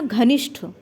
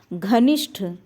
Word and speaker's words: घनिष्ठ: और अगला शब्द क्या था अगला शब्द था घनिष्ठ दो शब्द रिलेट करिएगा यहां पहला शब्द क्या हो गया गरिष्ठ गरिष्ठ शुद्ध सही है और इसमें क्या था घनिष्ठ तो घनिष्ठ शब्द क्या है शुद्ध है गरिष्ठ